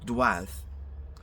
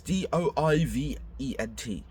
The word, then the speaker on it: doivent: And elles doivent. It's DOIVENT, but don't pronounce the ENT at all.